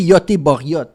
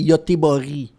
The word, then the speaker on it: Göteborg: Although the last G is not the same pronunciation as the first G that we just said it. Yeah. In front of a Because it does He doesn't say Goteborg. You say Goteborg.